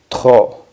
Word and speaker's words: trop: Y para decir demasiado, demasiado sería trop. Trop. La P, que es una consonante y va al final de esta palabra, no suena. Sería trop.